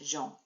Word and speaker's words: Jean: And a top tip there, that is how we pronounce that name in French, Jean. Okay, we would say Jean, they say Jean.